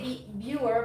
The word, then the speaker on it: Biewer: too sure we say be viewer but I've heard that in the states it's pronounced Beaver so look at all